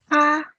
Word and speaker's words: 他: So here the next 3 are all pronounced the same. So we've got 他, 他, 他.